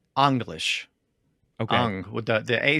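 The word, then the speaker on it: Englisc: English in Old English so in Old English it would be well probably be anglish okay Ang the the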